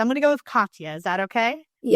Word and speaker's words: Katya: names correctly, so I'm going to go with Katya.